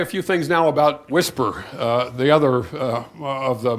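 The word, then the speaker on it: WSPR: the time anyway so the weak signal propagation reporter mode pronounced whisper it's a low-power one-way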